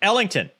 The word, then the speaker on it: Ellington: Yeah, it's Ellington. That's right. So the other asshole was saying it wrong.